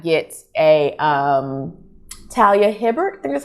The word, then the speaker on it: Talia Hibbert: actually surprised i did not get a um talia hibbert that's how you say her name the brown